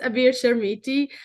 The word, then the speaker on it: Abir Chermiti: your podcast this amazing opportunity again now you pronounce my name perfectly so my name is avir sharmiti I'm a tech printer my background I started